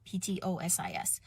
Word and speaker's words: ptosis: have droopy eyelids or ptosis as a silent p ptosis so there's so many